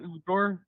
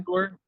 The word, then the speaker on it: Egor: Egor Demin is It's not Igor? No. It's okay. Yay, It's fine. Gore. Like, yay, Gore. That's what from every pronunciation that I've heard, it's that.